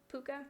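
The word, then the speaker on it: Puca: And one of them, I read it as Puka, P-U-C-A. I don't know if that's how it's pronounced. In my head, I pronounced it like the dog from Anastasia. Puka?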